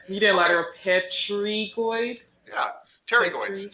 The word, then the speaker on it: pterygoids: Pterygoids. How do you say it? Pterygoids. This P is Oh, silent. Terry. You Yeah. don't say the P. Oh, okay. I know it looks like pterygoid, but it's not.